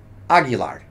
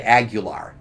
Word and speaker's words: Aguilar: So the correct pronunciation of my last name is Aguilar. Aguilar. Okay. A lot of people just Americanize and say Aguilar.